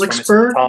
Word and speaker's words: Flixborough: Flixborough, is that how you say it?